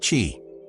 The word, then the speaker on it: Qi: Most modern wireless chargers use something called the Qi standard, spelled Qi, pronounced Qi.